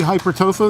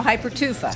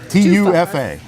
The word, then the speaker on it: hypertufa: Now I said it wrong again, didn't I? No, hypertufa. Hyper tofu. See, I knew I was going to That's say it good, wrong. that's Tofu, tofu. T-U-F-A. Tufa.